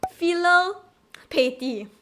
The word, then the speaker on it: filial piety: can never pronounce properly filial piety~ omg (*￣3￣)╭ I am sorry but I butcher it people ( ﾉﾟｰﾟ)ﾉ I am sorry (*￣3￣)╭ It's actually filial pi-e-ty so filial piety also known as 孝